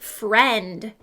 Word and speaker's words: friend: Here's the word friend. What do you think about that one? Yes, that one is tricky. We hear the short E sound in the middle, but I notice I and E together.